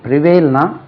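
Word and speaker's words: prevail: முடிஞ்சு நெக்ஸ்ட் வந்து பிரிவேல் பிரிவேல்னா நடைமுறையில் இருப்பது இருக்கணும் பழக்கத்தில் இரு பிரிவேல் பிஆர் இஐ L stress like on the second ஸ்லேபிள் பிரிவேல் பிரிவெல்ட் பி ஆர்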